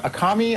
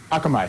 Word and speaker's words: Akamai: was taken from uh how do you pronoun akami Akamai I always pronounce their name wrong um Akamai thank you from you know one